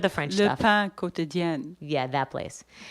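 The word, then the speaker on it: Le Pain Quotidien: pain quotidien, Yeah, that place. not La Pan. La Pan Quotidien. Escargots. Yeah. So I was eating at La Pan Quotidien.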